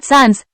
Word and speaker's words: सांस: The sound in sans is tilde n, n. 1. अनुस्वाराचा भिन्न उच्चार असलेली शब्दजोडी कोणा? Answer 2. Sans, kunj. Explanation. The words sans and kunj have different nasal sounds, Answer 10.